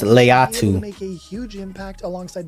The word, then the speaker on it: Laiatu: It's pronounced Laiatu.